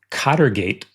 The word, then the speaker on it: Cartgate: So, and I guess we should also say that cartgate, which is I guess how it would be pronounced in English, rhymes with Watergate.